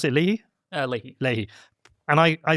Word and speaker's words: Leahy: Do you pronounce it Leahy? Leahy.